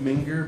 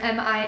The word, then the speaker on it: Mingear: I've got a YouTube channel as well, Mingear Band, and or SoundCloud, the Ming Humble Band. You can find me on those locations. So yeah, And that's Mingear, Mingear.